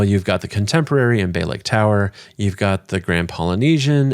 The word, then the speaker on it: Bay Lake Tower: This week, we're going to start off with Bay Lake Tower. Often mispronounced as Bay Lake Towers.